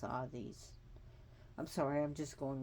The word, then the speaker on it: Hades: all these permission the position Hades which is pronounced all these I'm sorry I'm just going over this again